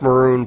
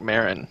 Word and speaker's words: Maron: Mark Maroon plays the director. He's kind of a... I think it's Mark Maron. Mark Maron, is that how you say his name? I don't think it's Mark Maroon.